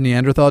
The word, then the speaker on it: Neanderthal: I think it's something like 4% of the 4% of the population have Neanderthal DNA, and it's actually pronounced Neanderthal, but they have Neanderthal DNA, and